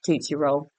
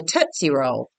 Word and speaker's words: Tootsie Roll: It's toot. Like a tooth come out your butt.